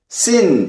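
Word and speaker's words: שׂ: 왼쪽에 왼쪽 위에 있는요 모양은 씬 이렇게 발음합니다 씬 그리고 트랜슬리러레이터 할 때에 음역 하실 때 이렇게 표시합니다 씬 S 사운드지만 위에다가 이렇게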